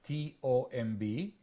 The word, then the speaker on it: tomb: how to say it I always mention the three words t-o-m-b b-o-m-b and c-o-m-b the first one is Tomb the second one is bomb and the third one